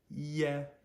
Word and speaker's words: ie: Now, E in this situation is not the falling flat on the ground, oh, just hurt my stomach sound. It is said like a short E in English, eh, eh. So we go from a long E to a short E, E, eh, yeah.